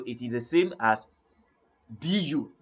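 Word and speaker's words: deux: the end so it is the same as du d d that is two therefore El I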